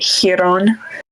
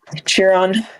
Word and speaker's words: Chiron: I think Brendan pronounced it Chiron rather than Chiron.